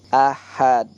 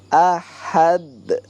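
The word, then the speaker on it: أحد: Allahnya ada fathah tegak lurus, bacanya 2 harokat, 2 detik, ahad. Nah ini ada ilmu tajwid baru lagi, ahad. Nah, ini huruf dal ini termasuk qalqalah.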